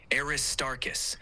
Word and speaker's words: Aristarchus: Aristarchus, with the emphasis on tar, is the correct pronunciation.